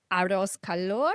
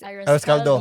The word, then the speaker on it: arroz caldo: Arroz calor, which is Arroz caldo.